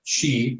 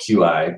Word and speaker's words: Qi: Again, no headphone jack, and they do have the Qi, or I guess it's spelled QI, but Qi wireless charging, which I find great.